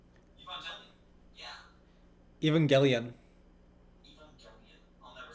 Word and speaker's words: Evangelion: Evangelical. Evangelion.